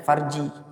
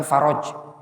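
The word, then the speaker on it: فرج: Oh, kalau ada tulisan kayak gitu bacanya farji, bukan faroj.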